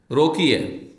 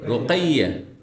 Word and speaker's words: রোকাইয়া: যেমন আমার দেশে রোকিয়া, রোকিয়া বলেন, রোকিয়া নাম না, কি নাম? রোকাইয়া।